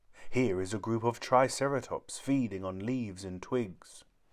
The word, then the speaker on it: triceratops: three horned face how do you say it triceratops say triceratops if these charge we'll have to get out